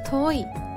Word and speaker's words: 遠い: カクです送り側の良いをつけると遠いと読みます n english 遠いメンズファー